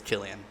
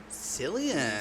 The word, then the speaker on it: Cillian: how does it spell it's with the c inside c-i-l-l I think but I'm almost positive it's Killian okay I was totally saying Cillian sillion so I was way off all right that's the